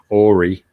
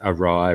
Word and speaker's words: awry: in a conversation and said ori and you know i couldn't resist the opportunity to say you know that's actually pronounced awry right like i hadn't